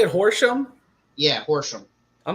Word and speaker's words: Horsham: horse how do you say it Horsham yeah Horsham I'm not is that like near Philly or